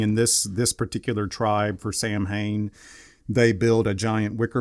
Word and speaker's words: Samhain: Pronounced Samhain. Samhain.